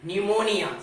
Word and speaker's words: pneumonia: n and before the letter s then the letter p becomes silent so we will understand this with some examples p n e u m o n i a pneumonia so how we will pronounce it pneumonia now another example we